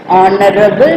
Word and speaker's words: honorable: okay and I okay H is silent here okay R and here here and on this person honorable person okay before that